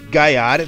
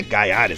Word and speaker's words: Gaiares: leste é bom mas gares não é gares é gares assim que se pronuncia gares é um dos